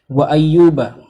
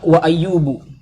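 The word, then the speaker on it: وَأَيُّوبَ: Wa ayyuba, Allah membuka firman-Nya dengan kalimat wa ayyuba. Ini kejadian langka di Al-Qur'an. Biasanya kalimat pembuka itu hukumnya dibaca wa ayyubu, tapi ini dibacanya wa ayyuba dengan harokat fathah.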